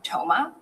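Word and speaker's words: Thoma: Toma.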